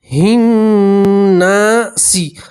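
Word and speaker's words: النّاس: ملائیں گے، الہ الناسی، اب سین کے نیچے زیر ہے تو زیر کو ہٹا دیں گے اور سین کے اوپر کیا پڑھیں گے؟ جزم، تلفظ بنے گا ناس، کیا پڑھیں گے؟ ناس، اور نون کے اوپر تشدید ہے، نون میں گنہ کریں گے، الہ الناس، الہ الناس۔ اب ترجمہ دیکھیے۔ قل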